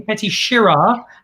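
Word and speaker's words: Petite Sirah: from the Mentors, except I thought it was Petit. It's actually Petit Syrah. You shouted at me for pronouncing it incorrectly earlier.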